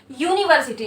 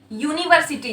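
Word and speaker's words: university: अगर आप इसको हिंदी में लिखने की कोशिश करें तो ये लिखाएगा, राइट, यूनिवर्सिटी। तो यहाँ पे ये जो आपका य आ रहा है, क्या आपका ये य स्वर है, नहीं ना।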